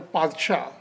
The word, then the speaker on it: Padshah: pronounced like by Farsi, that is in the P sound, and it should be pronounced as a Padshah.